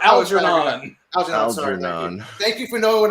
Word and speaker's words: Algernon: sorry no flowers for aggro knob i'll give it to you how do you pronounce the mouse but you did a horrible job it's flowers for algernon thank you for knowing